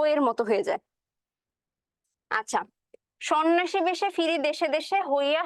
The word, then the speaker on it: সন্ন্যাসী: স বলে উচ্চারণ করি কিন্তু দেখো ধ্বনির উচ্চারণের ক্ষেত্রে একটা নিয়ম আছে যে প্রথম ধ্বনি কোন একটা শব্দের প্রথম ধ্বনিতে যদি একটা অ যুক্ত থাকে হুম আর তারপরের ধ্বনিতে যদি একটা জ ফলা থাকে সেই ক্ষেত্রে ওই যে শুরুর অ যুক্ত ধ্বনিটা সেটার উচ্চারণ হয় হচ্ছে ও এর মত একটু টাফ মনে হচ্ছে